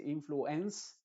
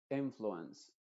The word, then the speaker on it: influence: es Open sino Open en palabras que terminan en ense pasa Exactamente lo mismo uno no dice influence sino influence influence Recuerda que la